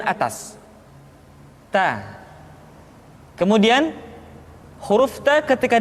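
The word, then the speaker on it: ت: Keluar dengan menyentuhkan ujung lidah kita dengan gusi-gusi gigi seri bagian atas. Ta.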